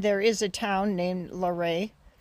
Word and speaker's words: Laurin: is a town named larae probably best known for its mispronunciation a lot of people call it Lauren but it's a French word so the largest ma